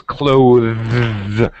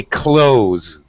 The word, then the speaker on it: clothes: say correct pronunciation is clothes with the ta sound but most americans say clothes just like close the door and british actually either